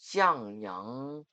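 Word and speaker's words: 向阳: 중국어 발음은 이렇습니다. 냥영 행림호 공원은 사계절 경관과 넓은 녹지 산책 공간이 조화를 이루는 도심속 대표 휴식 공원입니다.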